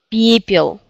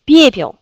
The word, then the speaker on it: пепел: Пепел.